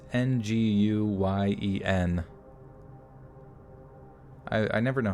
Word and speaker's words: Nguyen: You don't even pronounce the N. So it's Nguyen.